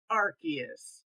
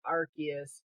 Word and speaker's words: Arceus: The next game is Pokemon Legends Arceus, and that is how you say it. That is official from Nintendo, from all the Nintendo Directs. They pronounce it Arceus.